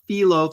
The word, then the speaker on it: phyllo: Yeah, it's pronounced phyllo.